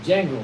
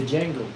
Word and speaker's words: Django: But remember the movie Django, the Django, Yeah. the D is silent.